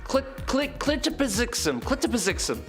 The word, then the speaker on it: Mxyzptlk: Clitopizixum.